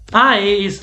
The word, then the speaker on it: ay: And also I is like ouch. I.